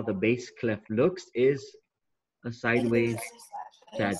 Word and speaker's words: bass clef: a bass clef and we think of the word bass like the bass in our radio very good okay that's